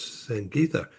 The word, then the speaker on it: Sangitha: I'm uh in San Diego and with us in Bangalore, India is Sang Gita. Am I pronouncing that correctly?